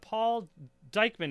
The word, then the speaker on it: Diechmann: So we have Paul Diechmann is how I pronounce.